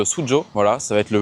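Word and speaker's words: Suzhou: Dans la prochaine vidéo, on va aller à Suzu, ça se prononce Sujo.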